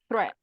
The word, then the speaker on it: threat: teacher ah threatened Triton threat right okay right that's right yeah correct threat threat it has a th sound there so it's three threatened uh learn something